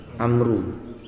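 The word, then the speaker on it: عمرو: saat Bean Hai tambahan untuk membedakan bacaan Umar dan Amr main memory kalau dibaca digali berbau maka Bacanya apa Amru Tapi kalau nggak ada hurufnya maka dibaca umaru koala Beliau mengatakan hadits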